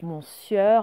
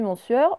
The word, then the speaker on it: monsieur: est devenu sueur donc mon sieur à moi le mot et le sieur se sont accrochés et je ne sais pas pourquoi on ne prononce plus manseur m'ont dit monsieur on dit même pas